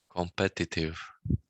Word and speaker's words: competitive: No, compare in the second syllable. Exactly. So it's kind of competitive, right? So you have to kind of visualize like like as if it's music. Competitive, not competitive, competitive.